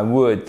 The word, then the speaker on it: would: would like to I would like to on prononce pas le l j'aimerais tu make anapointment